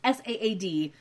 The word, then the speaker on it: Saad: It's S-A-A-D, but I'm assuming it's Saad, because everyone I've ever known with that name pronounces it Saad.